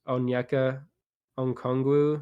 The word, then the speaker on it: Onyeka Okongwu: And another guy I want to point out was Onyeka Okongwu, I think is how you say it.